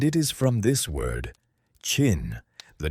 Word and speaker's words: Qin: The word Qin is pronounced roughly like the English word chin, and it is from this word, Qin, the name of a